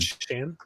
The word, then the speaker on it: Shan: His name's Shan. Shan?